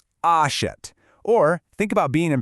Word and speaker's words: achète: They indicate an open e sound. For this one, your mouth actually opens wider, and the sound relaxes into more of an eh sound, sort of like in the English word pet or set. Let's actually look at these in action. Take achète, which means he buys. You can really hear the jaw drop slightly on that middle syllable.